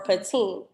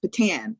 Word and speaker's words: Patin: It's a Creole name, so it's pronounced Patan, like Patando Commando, or Botanical Gardens, or Patanda Bear, or Patando Calrissian, or Patan like Chopin.